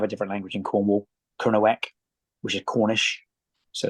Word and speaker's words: Kernow: language we have a different language in Cornwall KERO which is Cornish so it's a cross between or it's a combination of Gaya Celtic and kerno the word KERO and most people pronounce that wrong over there